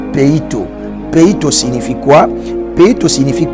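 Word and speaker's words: πείθω: la persuasion en grec le mot persuader ce verbe là ça se prononce pito pito signifie quoi pito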